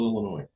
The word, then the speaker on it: Illinois: out of uh Springfield Illinois Springfield another uh illinoisian yeah the S is silent welcome to the drywall